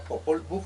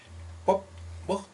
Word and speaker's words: Popol Vuh: dice el Popol Vuh, digo Popol Vuh porque la palabra Popol Vuh es castellanizada. Popol Vuh es la palabra verdaderamente real, porque es la que se manifiesta en el idioma mam nuestro, en el idioma quechí, en el idioma sutuile.